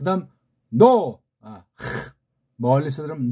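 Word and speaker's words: Noah: 그 다음 노, 멀리서 들으면 노, 아자는 원래 없는 건데 그냥 이걸 편집한 어떤 자들이 붙인 거예요.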